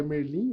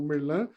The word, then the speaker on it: Merlin: que é siso da Leroi Merlin ou merlan na na pronúncia correta aí e ela deixou